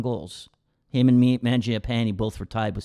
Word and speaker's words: Mangiapane: Now, Andrew Mangiapane, is that how you say it? Mangiapane, pretty good. Yep. Tough.